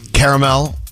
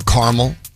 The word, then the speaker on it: caramel: with peanuts and nugget caramel or caramel depending how you say it milk chocolate uh